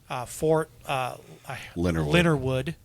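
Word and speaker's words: Fort Leonard Wood: So Fort Linnerwood, I think is how you pronounce it, Linner, Linnerwood is down there, where we do train a lot of our soldiers there.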